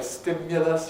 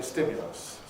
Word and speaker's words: stimulus: same sort of argument i don't say stimulus usually with an urge while some people do i say stimulus it isn't even quite